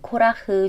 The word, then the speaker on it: קרח: 이번 주는 코라흐 주간입니다. 민수기 16장에 나오는 고라의 이름이 원어로는 코라흐입니다.